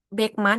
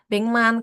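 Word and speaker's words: 백만: Terus kayak yang Beckman itu pengucapannya tuh Bengman.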